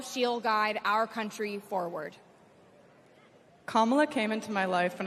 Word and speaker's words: Kamala: do you pronounce it first you say comma like a comma in a sentence Danny say la like la la la la la put it